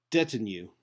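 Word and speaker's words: detinue: didn't see the pronunciation it's Stetson did debt in you or yeah debt in you that's a new I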